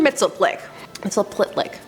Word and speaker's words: Mxyzptlk: Mxyzptlk. Now I spent some time practicing how to say this, and I ended up going with the Superman animated series Gilbert Gottfried pronunciation. So this little imp from